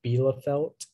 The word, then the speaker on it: Bielefeld: uh your word is bilafelt um can i have all the information please yeah the only pronunciation is belafelt it's a noun and